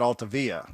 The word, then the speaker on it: Altavilla: Essentially, what Altavilla. I would pronounce that Altavia. Mm-hmm. But that's from living where I've lived for the last 20 years. The two L's is the Y, but I don't know that that's part of his heritage.